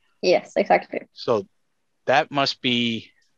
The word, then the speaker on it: Jessica: That's very, very commendable, yes. I keep trying to say Jess, and you pronounce it more yes, right?